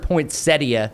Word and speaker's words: poinsettia: But there's also uh National Poinsetta Day. I've also heard poinsettia. I don't know how to say it anymore. It poinsetta. I think poinsetta. Like a majority of the population says poinsetta.